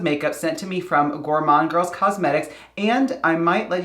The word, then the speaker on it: Gourmande Girls: set something straight i hear people call this gourmandi gourmande gourmander like all kinds of weird variations of the